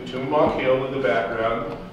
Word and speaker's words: Tumamoc: St Mary's uh and you can see T tumach Hill in the background it's pronounced by the way chumak that's the way the the odm people say